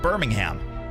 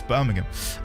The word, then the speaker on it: Birmingham: Not Birmingham. It's Birmingham.